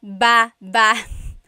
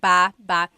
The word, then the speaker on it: baba: Then there's babba. Ba. Emphasis is on the second syllable syllable.